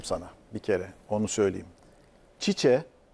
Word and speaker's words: Tite: Çiçe, Tite yazılıp Çiçe okunan beyefendi. Evet. Yani öyle yazılıp Çiçe okunuyor ya.